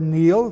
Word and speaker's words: Niall: The Celtic race deals with Niall, N-I-U-L, or Neil, pronounced today, youngest son of Phineas, Pharsis, king of Scythia.